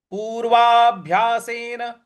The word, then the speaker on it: पूर्वाभ्यासेन: का 44वा श्लोक है पूर्वाभ्यासेन पूर्वा पूर्वा देखिए यहां पे जो भ है उस पर थोड़ा सा हमें बल लगाना है पूर्वाभ्यासेन तेनव ते नैव न